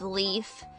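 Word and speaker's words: Leif: specific it's a character whose name is literally Leaf l i e l e I forgot the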